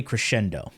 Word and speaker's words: Crescendo: You have other options like melee crescendo, aka Crescendo. That's the proper way to pronounce it.